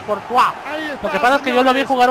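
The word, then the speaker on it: Courtois: es pero se llama se pronuncia cortu que yo lo vi jugar una vez se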